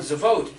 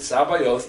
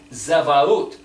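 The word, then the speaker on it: צבאות: You see, that word Sabaoth is the word in Hebrew, Zadi Bet Aleph Vav Tav, Zavot. It's mispronounced and put in English letters, so we miss it, but Zadi Bet is the word for turtle.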